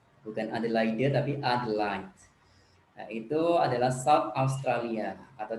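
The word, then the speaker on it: Adelaide: Hai yang ketiga Adlin tulisannya adil lainnya yang bacanya ad like bukan Ade lainnya tapi Adlan itu adalah stop astralia atau disingkat RT ibukotanya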